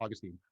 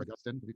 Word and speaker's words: Augustine: have to compare myself to Augustine, right, or Augustine. Canadians, Americans tend to pronounce the name differently. I pronounce them differently in the same sentence sometimes.